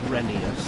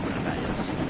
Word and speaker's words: Reneus: Like I've noticed people starting to call Reneus Renius because that's how Audrey said it in that way. It's always been Reneus.